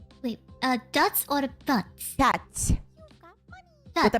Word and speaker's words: пять: Пять. Wait, dots or butts? Пять.